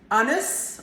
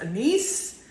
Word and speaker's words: anise: I happen to absolutely adore anise, or sometimes it's pronounced anise, and that is the